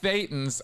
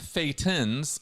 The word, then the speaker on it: thetan: by the way that it Rhymes so closely with Satan uh but thetans are the core aspect